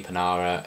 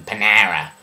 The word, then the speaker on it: Panera: love that and also a restaurant called panera or well if you're me panara if i think it's housewives we pronounce panera if you're american panera fell in love with